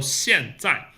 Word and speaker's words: 现在: So 现在. 现 lower teeth, tongue touching the lower teeth. 现 and 在 just zip, 在. Both of them are down tone, the 4th tone. So 现在.